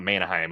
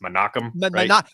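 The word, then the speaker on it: Menahem: how do we pronounce it's not Manheim. It's it's Manakim Manakam Gol.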